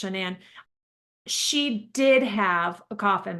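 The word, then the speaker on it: Shanann: shanan Watts shanan yes it's not Shannon but it's shannan she did have a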